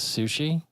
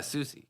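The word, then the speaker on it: Soucie: And her name is Sushi? Oh, I don't know how to Sochi- pronounce that. Don't even. Susie. Is it Susie? Yeah, Susie.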